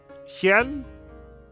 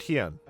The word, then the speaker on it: Hien: I imagine it's Lord Hien. Hien. Okay, Hien. Got it. Lord Hien. It's dumb, but the way I came to that conclusion is, hey, Tien from Dragon Ball is pronounced Tien.